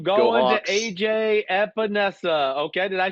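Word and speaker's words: Epenesa: AJ Epinesa.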